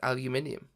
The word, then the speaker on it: aluminium: stuff like the pronunciation of aluminium which is pronounced aluminium i need it for my school is not